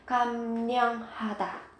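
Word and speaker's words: 감량하다: bạn phát âm thì các bạn cần chú ý biến âm là kam nhang ha ta.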